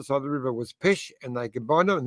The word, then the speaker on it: Pest: and the other side of the river was pesh and they combined them and there it is that's uh pesh and that's buddha and now it's now it's